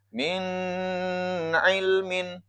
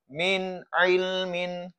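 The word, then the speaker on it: مِنْ عِلْمٍ: Min ilmin ya bukan min ilmin tapi min ilmin.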